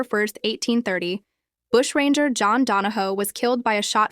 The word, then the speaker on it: Donahue: degree of popular admiration known as bold Jack donaho pronounced donaho his name became legendary